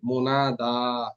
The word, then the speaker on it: منادى: منادى ইয়াটা সাইলেন্ট থাকবে, মুনাদা।